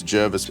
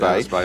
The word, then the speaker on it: Jervis Bay: the early 1900s where descendants of John Jervis had actually wrote and said, "Can you fix the name pronunciation, please?" Okay. Right, so if you're watching, it's Jervis Bay. Jervis Bay, I don't come.